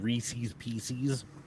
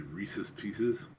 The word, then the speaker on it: Reese's Pieces: a guy named Reese they are Reese's Pieces and it's that way because it rhymes yes you gotta go